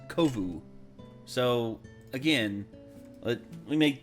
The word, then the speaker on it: Kovu: She bumps into another lion cub named Kofu. Yeah, he says Kofu. He literally says Kofu. It's Kovu.